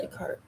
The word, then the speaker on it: Descartes: Descartes. Oh, so the S is silent.